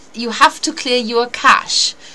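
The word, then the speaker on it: cache: have to clear your cash this has got nothing to do with the money money money this is spelled c a c h e sometimes you can't log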